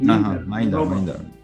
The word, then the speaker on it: Mindar: In a joint project with the Zen temple, you created Mindar. Do I pronounce the name correctly? Mindar. The priest, yeah, Mindar.